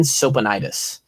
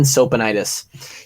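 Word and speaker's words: Tsopanides: We had a guy named Dean Sopanides, and his last name was spelled like T-S-O-P-A-N-I-D-E-S or something like that. Dean Sopanides.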